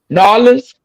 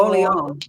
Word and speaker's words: Orleans: New Which one? Orleans. Nolans? It's No. Orleans. That's a French city.